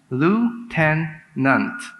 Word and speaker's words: lieutenant: Lifeline word is Lieutenant Lou ten nunt Lieutenant is pronounced by some as lieutenant lieutenant l-u-t-e-n-a-n-t I'm sorry that's